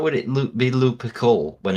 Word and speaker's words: Lupercal: The chaos introduction for Battlefleet Gothic 2, the War Master Horus Lou Perkle.